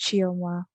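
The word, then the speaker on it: Chioma: how to pronounce it it is pronounced chiawa yeah thank you what a pretty name hi did i get it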